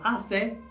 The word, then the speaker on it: hace: So hace is it makes. Notice you don't say the H, it's A and E and A and O. Just like the vowels, hace calor.